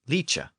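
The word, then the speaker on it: lice: Another common Old English suffix was like, originally spelled L-I-C, pronounced leek, or sometimes spelled L-I-C-E, pronounced leecha.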